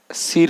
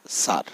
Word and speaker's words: sir: অর্থাৎ আই এর পরে যদি আর থাকে তখন আই এর উচ্চারণ হয় আ।